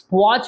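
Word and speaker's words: watch: letter म्हणतात पुढे बघा वॉच मध्ये वचटी वापरतो का आपण नाही पण स्पेलिंग लितानाटी वापरतो म्हणजे कायटी हा सायलेंट लेटर झाला पुढे बघा राईट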